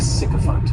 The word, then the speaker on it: sycophant: noun is cant and this noun has three syllables and the stress is on that first syllable the spelling May throw